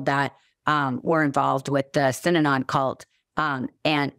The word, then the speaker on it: Synanon: They did, and I don't think, you know, was part of Sinon was, Sinanon is how you pronounce it, is a cult started in California by addicts.